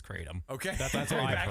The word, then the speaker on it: Kratom: I believe it's Kratom.